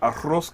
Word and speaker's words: arroz: So, we're doing a Puerto Rican dish today called Arroz con Pollo. Arroz con pollo. Tailored to lunch We don't break. pronounce the Z in Puerto Rico. We say arroz. Not arroz, okay? That's that Dominican stuff.